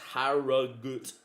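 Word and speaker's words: Harrogate: And Harriate is pronounced Harut. So we're playing against Haragut. I would say Harrigate Town. Look, I don't like them. Harriate's their name now. Say it wrong now.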